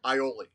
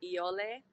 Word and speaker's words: Ioli: Yeah, but we pronounce it Ioli. And it's actually the Hawaiian word for rat.